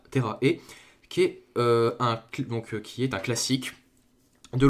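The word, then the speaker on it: Terra e...: du manga Terra E, je pense que ça se prononce Terra E, qui est un classique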